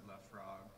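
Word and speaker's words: Laphroaig: They pronounce it Lafroig in French, you know.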